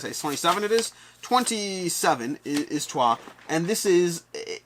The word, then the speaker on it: Troyes: Yeah, I know it says Troyes, but it's pronounced Trois.